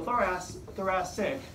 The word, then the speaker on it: thoracic: So thoracic, the first C is pronounced S. The second one is a hard C.